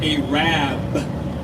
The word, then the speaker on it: Arab: ararat spilled a Rab no don't pronounce an era they pronounce it a Rabb because the original name was a rat but they misspelled it on the water I can't make that